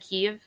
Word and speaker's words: Kyiv: I mean, I think until you just said Kyiv, I've always heard Kiev. Oh yeah, Kiev is Russian.